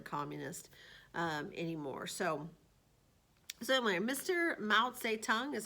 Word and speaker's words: Mao Zedong: Mao Zedong is how you pronounce his name.